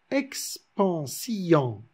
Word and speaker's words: expansion: violon violon par exemple le mot expansion logiquement naturellement on le prononce expansion mais afin de respecter la métrique du verre il se prononce ex en sian ex pense y en a deux voyelles qui ce suivi et le haut et qui sont lus séparément quand est ce qu